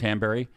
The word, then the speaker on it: Hanbury: Can you pronounce her royal name, her titled name? I went and This Rose Hunley, Hanlon? Rose Hanbury, Hanbury.